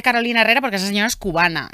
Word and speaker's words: Carolina Herrera: me ayudas Carolina Herrera Cómo se dice se dice Carolina Herrera Porque esa señora es cubana Entonces se dice Carolina Herrera Por qué entonces hemos